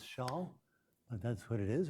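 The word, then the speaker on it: Chasles: me a long time to learn how to pronounce Shaul but that's what it is a Frenchman and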